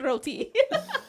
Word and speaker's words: roti: It's not pronounced roti. So there's no multiple R's? We don't roll the R. We just say roti.